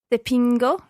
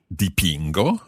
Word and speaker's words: dipingo: Dipingo. Dipingo.